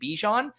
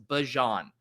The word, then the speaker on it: Bijan: I think I always default to saying Bijan, but the way he said it in the clip, which I did watch back 3 or 4 times, was Bajan. So kind of like the mustard, Dijon, Bajan.